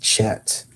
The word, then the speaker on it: chat: In English it's pronounced chat, but the t is silent. Like it's not even there.